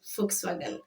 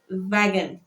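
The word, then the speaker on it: Volkswagen: that one at least it's because of the F and the W that is there that's why we call it folkswagen not knowing that is Vagen you guys.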